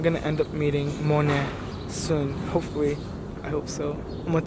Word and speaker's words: Mone: right mon how do you say your name Mon and you you know me you me yeah